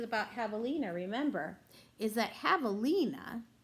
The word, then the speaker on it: javelina: javelina remember is that javelina is spelled with a J because javelina is a Spanish word and in the Spanish language J makes a sound instead of the J sound so many of you